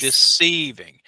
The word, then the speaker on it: deceiving: Deceiving. Now, some people Deceiving. do emphasize the first part, deceiving. Yeah, some people might say deceiving, but I pronounce it deceiving.